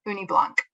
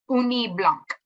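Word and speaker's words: ugni blanc: and by the way that's your code word uni Blanc make sure you spell it right u-g-n-i-b-l-a-n-c all right next slide please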